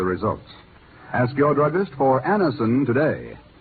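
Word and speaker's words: Anacin: For there are many people listening in now who have been introduced to Anison tablets by their own dentist or physician.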